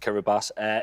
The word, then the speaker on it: Kiribati: Wow, yeah, it's spelled Kiribati, but it is pronounced Kiribati.